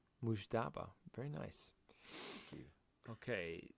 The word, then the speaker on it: Mujtaba: Mujtaba.